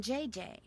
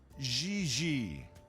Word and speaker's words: Gigi: No, I mean JJ. Gigi. JJ. En français, you pronounce G like J and J like G. She may very well be JJ in America, but in France, she is Gigi.